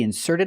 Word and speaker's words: insert: card in the ATM put a stress on the second syllable because it's a verb first this is not